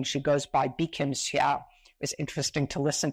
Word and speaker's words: Bi-khim Hsiao: What she prefers is the Taiwanese pronunciation of her name.